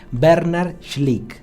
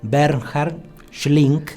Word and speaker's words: Bernhard Schlink: Mucha gente dice Bernhard Schlink. En realidad el autor se pronuncia Bernhard Schlink. Hay una H ahí que hace.